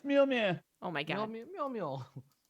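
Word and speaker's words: Mjölnir: It's Mjolnir. Oh my god. Mjol Mjol. Nyarlathotep. Nyarlathotep. Thanks, English dude pronunciation.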